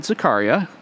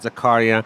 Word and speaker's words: Zakaria: And, the pronunciation of the name was very good, Zakaria. Sometimes people say Zakaria. That's also okay.